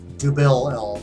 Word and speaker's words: Dubbel: Double or Nothing Belgian style Dubbel, which is technically how it's pronounced.